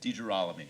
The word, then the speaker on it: DeGirolami: Jerami. Is that how you pronounce it? Derami. Emphasize the raw. Okay. like a roaring lion.